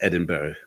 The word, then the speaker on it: Edinburgh: learning new things I do know that it's pronounced Edinburg Edinburgh my Scottish accent's not that good I would